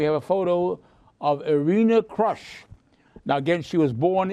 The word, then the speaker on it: Krush: her name was pronounced Krush. She was Arena Krush. But again, she kept coming to this country at a young age. She changed the translation the pronunciation of her name to Crush.